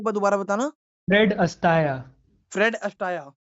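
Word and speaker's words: Fred Astaire: दोबारा बताना फ्रेड अटाया फ्रेड अटाया हां जी तो प्रोनंसिएशन ऐसी है वैसे स्पेलिंग उनकी अटायर है ओके तो ऐसा है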